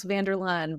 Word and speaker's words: Van Der Laan: Very close, Van Der Laan, but we get all sorts of pronunciations, so there are no worries.